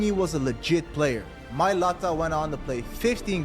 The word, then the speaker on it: Mailata: your younger sibling, knowing that they've changed the Mailata There's a few generation fucking forever?